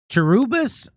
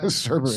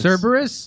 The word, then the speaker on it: Cerberus: So this guy says, like Cherubis in Greek mythology, is that how you pronounce that? Cerberus. Cerberus?